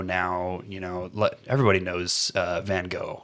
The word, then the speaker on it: Van Gogh: You know, everybody knows Van Gogh, right? Or Van Gogh, if you want to pronounce it French correctly.